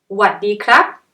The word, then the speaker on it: หวัดดีครับ: you might hear is หวัดดีครับ or หวัดดีค่ะ You don't pronounce sa. We shorten the word.